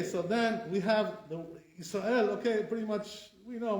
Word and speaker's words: Israel: For our custom, that's not A. It's not the A sound, like baseball, It's A. So therefore it's Israel, not Israel.